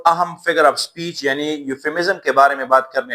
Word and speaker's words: euphemism: سب سے پہلے جو لفظ ہے اس میں یہ جو ای ہے یہ سائلنٹ ہے, تو صحیح تلفظ ہے یوفیمزم.